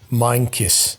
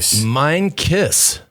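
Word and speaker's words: Meintjes: africa love your show the pronunciation is louis meinkiss mind kiss wow minecraft now i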